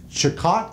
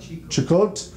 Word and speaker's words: Chicot: And then now 13% is coming from the Evangeline and Chicot. Is that how you pronounce it? Chicot? Chico. Yeah.